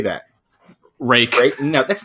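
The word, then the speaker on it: Ruike: certain companies like Tangram, Reich, how do you say that? Rake. No, that's not how you spell rake. It's rake. That's how it's pronounced. R-U-I-K-E is pronounced rake.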